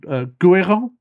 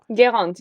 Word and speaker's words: Guérande: And forgive me if I don't pronounce the name, but it's called Guérin. Guérande, yeah.